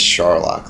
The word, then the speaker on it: Scharlach: But my last name, it's Scharlach, like Sherlock Holmes.